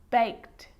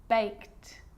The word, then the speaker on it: baked: it's its own syllable but a lot of the time that e isn't pronounced looked asked played baked wrapped now they could be